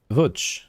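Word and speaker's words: Łódź: Lodz is actually pronounced Vuch.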